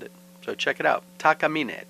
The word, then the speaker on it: Takamine: Takamine, Takamine, pronounced by most Americans as Takamine. And that one over there is definitely Takamine for now.